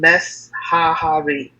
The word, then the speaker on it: Meshahar: Indian boy by the name Meshahar, pronounced, here's a pronunciation, Meshahari.